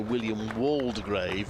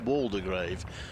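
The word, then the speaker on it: Waldegrave: he was a Minister William waldgrave or was it Walder grave and apparently it changed he had said one one point and then changed his mind a bit later but so it does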